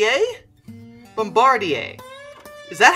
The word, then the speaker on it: Bombardier: by oh here we go bomba d a bombardier is that how you say it i think